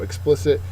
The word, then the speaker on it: explicit: the uncensored version so explicit is clearly stated it's not covered up by any way uh it's an adjective second syllable is accented uh the synonym is